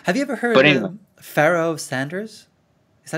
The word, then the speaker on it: Pharoah Sanders: Have you ever heard of Pharoah Sanders? Is that how you pronounce his name? Pharoah Sanders, yeah, fantastic.